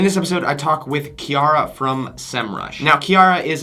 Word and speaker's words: Chiara: Chiara, I say it correctly as you said. Yeah. It's how the correct pronunciation of how an American would say it.